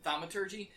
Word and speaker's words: thaumaturgy: How do you pronounce it? Thaumaturgy? Thaumaturgy.